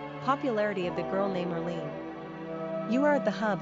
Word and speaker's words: Earline: Pronunciation, Earline.